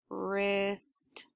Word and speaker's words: wrist: earth sound like in the word or its wrist wrist so sometimes we can spell words with